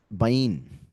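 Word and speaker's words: בין: you and the noon we have bane or well like I said bane just because of the way a is pronounced in English so uh bane which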